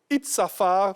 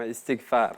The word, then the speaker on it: Istighfar: L'imam Doumbia Ibrahim, il est imam principal de la mosquée Itzafar, de plateau Vallon. Voilà. J'espère que j'ai bien prononcé. Hein? Itzafar. C'est bon, Istighfar. Istighfar.